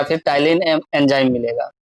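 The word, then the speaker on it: Ptyalin: या salivary amylase या टाइलिन, P silent रहेगा इसमें, टाइलिन एमाइलेज, ये टाइलिन जो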